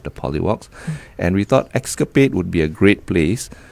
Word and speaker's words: Xscap8: Clever, because it's spelled X-SCAP8. Correct. Escapade.